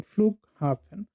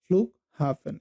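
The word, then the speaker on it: Flughafen: যেমন এখানে compound noun আছে, এখানে স্ট্রেসটা কি হয় যে first part of the compound noun, যেমন ফ্লুক হাফেন, ফ্লুক হাফেন, এই ফ্লুকে আপনাকে স্ট্রেস দিতে হবে।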